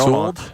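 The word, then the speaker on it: Sewald: I say Sold like Sewell's in New Jersey. Right, Sewell, so New Jersey.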